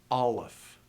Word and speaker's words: aleph: and also notice that when you pronounce these names, the accent's always going to be on the first syllable. Aleph, Gimel.